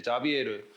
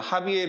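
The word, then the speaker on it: Javier: 그 참가자 이름이 이제 자비에르. 여기 이제 아마 스페인어로 발음하면 하비에르 이렇게 발음할 텐데 이 사람이 이제 초콜릿을 먹었던 기억이 있다라는 거예요.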